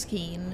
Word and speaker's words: skein: Also, by the way, it's pronounced skein.